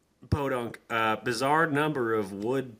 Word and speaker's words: Podunk: next to L for some reason this small pod dunk Town seem to amass a bizar it's pronounced Podunk Podunk uh bizarre number of wood pallets which they